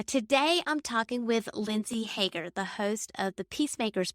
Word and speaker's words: Haeger: I am speaking with Lindsay Hagar did I pronounce that yes Hager all right so um Lindsay just tell our